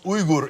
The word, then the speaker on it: Uygur: real and yuger okay and it's actually pronounced Ur in Turkish oh forget about it forget about